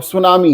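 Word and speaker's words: tsunami: लेकिन यहाँ अब सुनामी है तो सुनामी में टी क्या कर रहा है ना।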